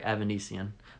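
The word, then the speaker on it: Avanesyan: I got it right, Evanesian. My apologies for the mispronouncing it a little earlier.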